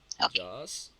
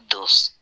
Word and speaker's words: does: Ok, entonces la pregunta sería Who does Sally visit in Spain? that's it. Okay, the pronunciation is with like an A sound, an open A sound.